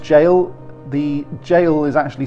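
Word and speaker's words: Gaol: number eight next one is Bodmin jail it's pronounced jail the jail is actually spelt like this the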